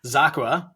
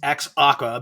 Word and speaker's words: xAQUA: founder and CEO of zaka uh it looks like it's ex Aqua but I was corrected uh rightfully so uh